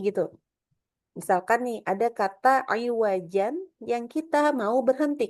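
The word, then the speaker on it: عوجا: Kalau wakaf saja kita bacanya tentunya dengan mad iwat. Bacanya iwaja gitu ya. Nah, kalau saktah di kata tersebut maka kita juga sama bacanya seperti kalau waqaf bacanya dengan iwaja. Fan nulisnya juga salah nih ya. Salah copy kayaknya. Oke. Jadi bacanya sama dengan pakai mad iwat juga ya, tidak dibaca dengan ee apa iwajan gitu.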